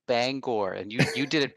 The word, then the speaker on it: Bangor: pronounced that correctly because sometimes people say Banger remain it's like no Bangor and you you did